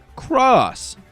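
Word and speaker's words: χ: and became Union Cross spelled with you guessed it only an X but this time being pronounced cross come on guys make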